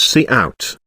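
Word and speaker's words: cout: the output called by the function C out pronounced as C out now I think you got the sense of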